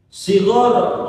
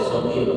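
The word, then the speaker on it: صغيرا: Maka kalau dibacanya wali walidaina warhamhuma kama rabbayana shighara, nggak boleh shogir, salah lagi baca karena nyusunnya salah, ada aturan.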